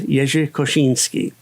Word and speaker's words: Jerzy Kosiński: So now I know that his name or at least the name that he went by was Yay Koshinski. It's strange that English speakers also pronounce the name of the Uni Bomber as Kazinski.